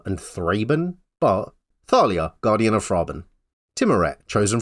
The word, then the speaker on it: Thalia: 500 printings or now I've been told it's pronounced Talia and thraen but Thalia guardian of frin timet